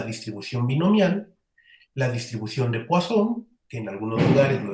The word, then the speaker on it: Poisson: En este punto, bueno, yo personalmente siempre digo la distribución de Poisson, porque pues así se pronunciaba el apellido, pero si en algún lugar oyen que dice alguien la distribución de Poisson, también se refiere exactamente a la misma. ¿Sí? Únicamente, pues que en uno pronunciamos en francés y en el otro en español.